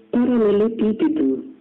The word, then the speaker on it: paralelepípedo: Exemplo, paralelepípedo. A sílaba pronunciada com mais força é pi, isto é, a antepenúltima.